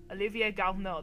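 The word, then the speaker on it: Olivier Garneau: Olivier Galneau, that's how you say it.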